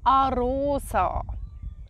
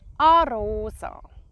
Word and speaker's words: Arosa: We pronounce it Arosa. Arosa.